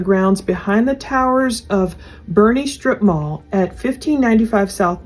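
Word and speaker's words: Boerne: put myself a note it looks like it's born but it's pronounced Bernie that area so they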